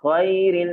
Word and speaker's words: ghairil: Gha biasanya orang tersamarkan dengan ghairil gitu. Padahal beda. Gha dengan gha memang secara tempat keluarnya sama, tapi punya sifat yang berbeda sehingga bacanya berbeda. Yang satu gha, yang satu kha ya. Memang hampir sama, tapi beda ya.